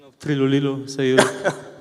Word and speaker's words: Trilulilu: That was a very good pronunciation of Trilulilu, so you pronounced Trilulilu very well.